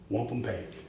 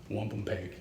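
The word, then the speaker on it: wampumpeag: The word wampum, the Algonquin pronunciation is 3 syllables, not 2. So why 2? Because the Europeans didn't want to say it our way. Wampum peg is the Algonquin pronunciation. Wampum peg.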